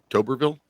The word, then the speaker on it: Tuberville: So what Senator Tuberville, is that how you say it?